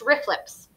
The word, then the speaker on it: RFLP: made by restriction enzymes the abbreviation rflp is pronounced riflips so these are riflips